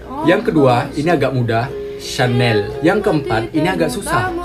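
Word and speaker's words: Chanel: ini atau kali pernah membelinya ini dia cara pelafalan brand-brand terkenal dari Perancis yang pertama Louis vitton yang kedua ini agak muda Syanel yang keempat ini agak susah freestyle Young dia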